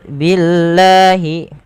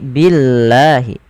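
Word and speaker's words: بِاللَّهِ: Kemudian pada lafal billahi, lafal Allah bila didahului dengan huruf berharokat kasrah maka dibaca dengan tipis, bukan billah tapi billahi.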